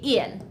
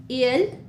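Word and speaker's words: ils: Yes, I know that there's an s after il, but we still just say ill. So we read it the exact same way. ill and ill. We don't pronounce the s.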